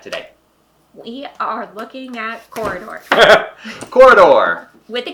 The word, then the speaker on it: Quoridor: We are looking at corridor. Corridor with a Q. With a Q. It's It's not It's a corridor. It's spelled with a Q, but it doesn't say corridor with a Q. It's It's corridor.